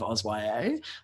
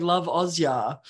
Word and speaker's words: LoveOzYA: book person based on how they pronounce uh hashtag love auswaye i've had a lot of people who are like hashtag loveozya i'm like ah okay you are not in this world and that's fine um